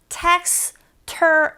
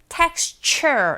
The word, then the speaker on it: texture: 그래서 chewy, texture 아니라 texture 이렇게 발음하시면 돼요.